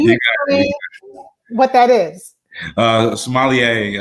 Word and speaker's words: sommelier: sommelier or sommelier, as you know, it's pronounced in French, as close as I could get to it.